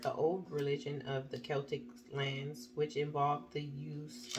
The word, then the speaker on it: Celtic: uh pile okay um so Celtic I believe I'm saying it right not Celtic Celtic uh you drew this